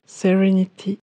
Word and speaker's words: serenity: par céline et mélissa tous deux ont correctement prononcer le premier jeu en le prononçant relâchés dans serenity car comme on l'a vu une voyelle est prononcée relâcher si elle est suivie de deux syllabes la prononciation n'était donc